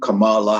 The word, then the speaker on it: Kamala: harris uh as her name is pronounced kamal kamala harris spelled k-a-m-a-l-a and harris uh so uh this